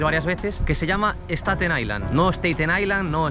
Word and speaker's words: Staten Island: llamaréis escuchado decir varias veces que se llama staten Island no staten Island no staten Island de hecho en el vídeo sobre el crucero de staten Island seguramente dicho alguna vez Stein Island pero para este vídeo quería cerciorarme de que